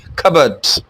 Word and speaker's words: cupboards: for cups or things p is silent covered so it's cupboards cupboards and now another